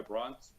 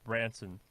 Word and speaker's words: Branson: Similar to the idea that, is it the Virgin guy, Bronson? How do you pronounce his last name? Bronson? Branson.